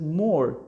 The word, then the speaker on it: more: Don't forget here, of course, we write E, but it is not pronounced. We said more.